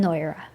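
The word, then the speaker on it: ngáire: Here we have the uru n in front of goy-reh, so the n takes over the sound at the beginning and the g becomes silent.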